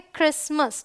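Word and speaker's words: Christmas: देखिए एसटी है तो ये है क्रिसमस टी साइलेंट है यहां पे यहां पे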